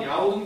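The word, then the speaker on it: 遼東: 그래서 요동 같은 경우는 특히 뭐 야오둥이라는 이름도 중국식 발음도 쓰고요. 둥이 동쪽입니다. 아, 그리고 이제 여기 튀어나온 애 있지? 얘가 그래서 야오둥 지방에 있는 반도다라고 해서 야오둥 반도다라고 부르기도 해요.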